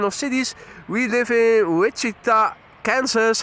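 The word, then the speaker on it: Wichita: We live in Witchita, Kansas." How do you say that? Which I like that. Which city? Which city do you live in? Which Kansas? No, it's witchita.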